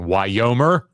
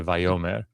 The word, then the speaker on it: Vayomer: Yes, we're aware that the sixth letter of the Hebrew alphabet in antiquity is pronounced like a W. Yeah, it's not really pronounced that way today. And to keep confusion to a minimum, instead of saying Wyomer, we say Vayomer.